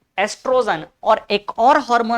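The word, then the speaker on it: oestrogen: नाम क्या है एस्ट्रोजन ओ को थोड़ा साइलेंट मान के चलते हैं कभी-कभी तो आपको ओ स्पेलिंग जो दिखेगा भी नहीं ठीक है तो बायो में कुछ कुछ चीजों में ऐसा हो जाता है एस्ट्रोजन एस्ट्रोजन बोलते हैं क्या नाम है एस्ट्रोजन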